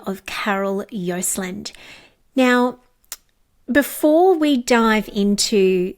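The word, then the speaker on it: Joseland: So, Carol Yosland, and Carol's surname is spelled Josеland, and I'm going to guide you towards LinkedIn to find Carol Yosland because that is the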